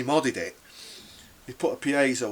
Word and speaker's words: piezo: He put a piezo, or you might pronounce it piezo, but I would call it piezo.